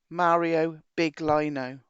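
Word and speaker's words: Mauro Biglino: This is where you need to be looking up Mario Blino, Big Lino, Mario Big Lino. That's how you pronounce.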